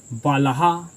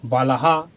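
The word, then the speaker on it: बालः: ये क्या है जी आपका विसर्ग है तो आपको विसर्ग जानते हैं कि ध्वनि क्या देता है जी तो आपका हा देता है तो का यहां पर क्या हो जाएगा जी बलहा क्या हो जाएगा जी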